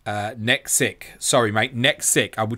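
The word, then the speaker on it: NEKXYC: For the future, it's pronounced as Nexic.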